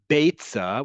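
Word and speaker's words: ביצה: Betza, with the eh vowel under the first letter, is different than bitza, bitza, with an e sound at the first letter.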